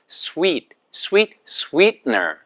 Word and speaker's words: sweetener: 그러니까 영어식 정확한 발음이 아니라고요. 그래서 sweetener 보세요.